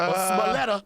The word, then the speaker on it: Smollett: He trying to do them fucking $5 footlongs with Smollett or Smoletta. how do you say his I can't name? say his name. Smollett.